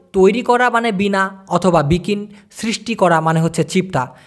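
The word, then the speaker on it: bikin: করাটাকে বলা যেতে পারে বিকিন বি আই কে আই তারপরে হচ্ছে এন উচ্চারণটা হবে বি কিন বিকিন ব্যাপারটা ক্লিয়ার আর সৃষ্টি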